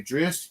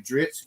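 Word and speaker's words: Drizzt: may hear me say Drist, you may hear me say Dritz, you may hear me say Drizzit because I was like, yep. So many different versions of way people pronounce his name.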